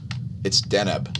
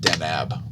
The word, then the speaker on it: Deneb: be stoic it's deneb not denab don't be unnab and